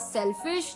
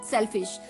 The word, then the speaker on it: cellfish: तो 11th word for the evening was सेल्फिश। ये तो बिल्कुल आपको याद हो ही गया होगा, सेल्फिश, CELLFISH, सेल्फिश, यानी कि हिंदी डिक्शनरी गूगल में